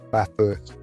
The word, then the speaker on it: Bathurst: I think it's pronounced Bathurst.